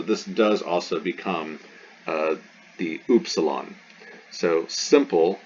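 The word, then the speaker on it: ύψιλον: does also become the oopsilon so simple like epsilon this is oops salon it's epsilon simple you simple you as opposed to complicated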